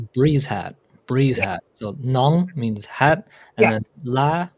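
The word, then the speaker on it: nón: whatever he just said nongla nong Nong like you know none and space I a maybe that's helping you pronounce I'm now helping you annunciate it just n o n g nong nong if you say you say it works.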